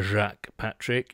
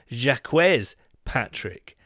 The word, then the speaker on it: Jacques Patrick: not least that uh the correct way to pronounce jacques patrick is not a jack patrick it is jacquez patrick which is slightly disappointing really i came with